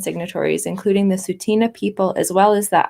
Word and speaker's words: Tsuut'ina: know it's called Tsuut'ina? Well, I'm going, see, this is my bad. I'm going by the pronunciation in red on this little sheet. But I appreciate, thank you. Any feedback, actually, from anyone, if I am mispronouncing. I can tell you this with your reasons. I checked. Tsuut'ina?